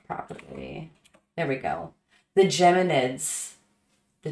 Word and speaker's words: Geminids: Spell it properly. There we go. The Geminids. The Geminids.